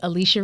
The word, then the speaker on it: Alechia: Listen, you can find me all over Beyonce's internet at Alicia, and it's spelled ALECHIA, last name.